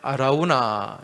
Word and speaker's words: 아라우나: 여러분, 이 사무엘서 말씀에는 아라우나 이렇게 나오죠. 또 역대기의 말씀에 보면은 오르난 이렇게 나옵니다. 그죠? 같은 사람이에요. 오르난의 타작마당, 아라우나 타작마당. 이 아라우나는 여부수식 발음이고, 이 여부수 사람이잖아요.